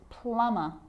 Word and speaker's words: plumber: Now there's a rule to remember with the letter B. It's always silent when it follows the letter M. Climb, crumb, lamb, thumb, dumb, and plumber. So practice them with me. I'm not pronouncing the B, I'm just pronouncing the M consonant sound.